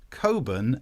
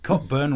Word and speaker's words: Cockburn: Posh people think that their surnames are pronounced Coburn and Ramsbotham. No, they're not. Cockburn, Ramsbottom, shut your face, you posh git.